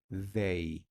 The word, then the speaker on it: they: que es they listo importante para la pronunciación sacar un poco la lengua entre los dientes they they hay como una vibración ahí they y significa ellos y